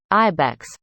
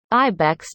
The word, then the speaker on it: IBEX: the Interstellar Boundary Explorer, IBEX, which was launched in 2008 and is in quote, the size of a bus tire, end quote. According to NASA, it's pronounced end quote, like the animal, end quote, Reisenfeld said,